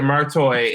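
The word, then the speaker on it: Merteuil: uh Cruel Intentions Catherine murtoy martoy but it has an o in it the prince yeah it's so annoying that you know that stop it okay no but they very specifically pronounce it martoy and I've never heard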